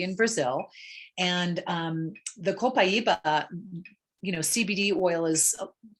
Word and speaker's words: copaiba: what a lot of people cope it's actually pronounced copaiba and it's from brazil a tree in brazil and um the copaiba you know cbd oil is people are using